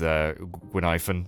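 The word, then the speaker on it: Guinaifen: Also, yeah, because we did the Hua Hua quest, we got to spend a bit more time with Gwynaifen, is how you say her name.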